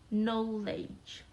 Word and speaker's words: knowledge: hi and then knowledge knowledge is a silent word with silent k it's not knowledge but it's knowledge and then life life